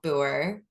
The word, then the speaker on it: Booher: Booher. It's Yeah, yeah. rolls Perfect. Yeah. off the tongue. I love it. Oh, that's good. Yeah. The H is silent or whatever. Yeah. Yeah. Booher.